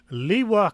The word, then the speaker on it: Liw: Liwa Castle is located next to the Liw River. L-I-W. I believe that's pronounced Liw. I don't speak Polish.